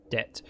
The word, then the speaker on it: debt: O says there is of course a logical and reasonable explanation why a word pronounced debt has a B in the middle.